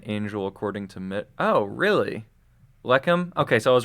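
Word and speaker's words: לחם: Lechem?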